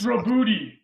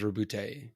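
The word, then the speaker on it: Roboute: I want to say they just did a pronunciation video on the Warhammer community page, and I think they went with Arbides. It's Robuti. Okay. Yeah. Rubuti. They did say that it was Robute.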